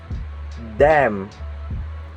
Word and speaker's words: damn: So example like this: damn, autumn, hymn, and column.